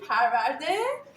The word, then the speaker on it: Parvardeh: I want to pronounce Okay, that. I was They excited. call that Zeytoon, Parvardeh, or marinated olives.